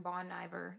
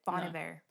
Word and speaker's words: Bon Iver: Song number 4, Exile, featuring Bon Iver. No, that's not how you say his name. That's how I say it. So yeah, but that's not how you say it. Bon Iver.